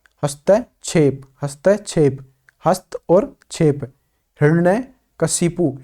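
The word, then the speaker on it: हिरण्यकशिपु: हिरण्य कशिपु, हिरण्य कश्यप नहीं होता है, ध्यान रखिए इस बात का। हिरण्य ही रण ये कशिपु ये होता है सही उच्चारण।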